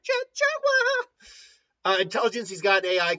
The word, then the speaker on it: Jaguar: You gotta always say it like Jaguar.